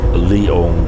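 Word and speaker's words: Liong: we call our barrio, because it's spelled L-I-O-N-G, L-I-O-N-G, and it doesn't really sound, doesn't sound special enough, so we always joke around that we call it the Lion G.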